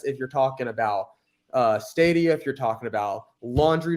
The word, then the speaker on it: Stadia: get a quick laugh say how do you pronounce it again his name is the cloud gaming platform Cydia yeah I heard it I heard it yeah when he said the other day no it's stadia a stadium oh look this is this is